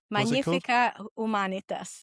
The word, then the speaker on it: Magnifica Humanitas: And because we have an Italian with us, it's going to be pronounced properly. Carolina? Magnifica Humanitas.